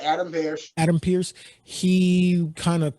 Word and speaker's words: Adam Pearce: You said it right, Adam Pearce.